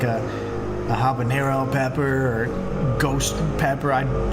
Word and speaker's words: habanero: So in English, you say habanero because we actually pronounce the H, the letter H. But in Spanish, you would say habanero. You don't pronounce H as it's silent essentially.